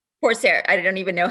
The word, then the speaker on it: Corsair: There were some new stocks in there that I hadn't heard of before, like is it Crosshairs? Or Corsair? Corsair.